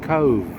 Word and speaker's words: Cobh: Let's see if we can get that Cobh. It's pronounced Cobh, C-O-V-E. B-H is this V sound in the Irish language, which I learned very soon after getting here.